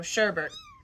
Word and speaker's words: Sherbet: So this one, the T is pronounced. So sherbet.